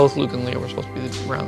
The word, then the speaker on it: Leia: Is Princess Leia, or rather Leia, the signature of Lee Brackett, the film's female co-author?